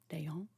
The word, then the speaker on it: d'Eon: Okay, I'm not even going to try to pronounce that. French is really hard for me. Mademoiselle Chevalier d'Eon. Dayon.